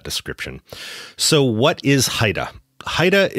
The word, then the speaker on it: HIDTA: so what is Haida Haida is how we pronounce the acronym that stands for high intensity drug trafficking area according to the DEA